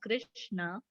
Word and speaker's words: Krishna: The words Hare, pronounced Hare, Krishna, pronounced Krishna, and Rama rhymes with drama, are Sanskrit words.